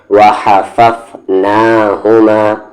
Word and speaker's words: وَحَفَفْنَاهُمَا: اس ہا کو اور اس ہا کو الگ الگ مخرج سے پڑھنا ہے یعنی کہ دونوں کا تلفظ الگ ہے، وَحَفَفْنَاهُمَا۔ با پر زیر بی،